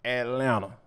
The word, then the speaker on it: Atlanta: And last but not least, our boy Anthony Edwards is straight up Atlanta. Yes, I meant to not pronounce that second T.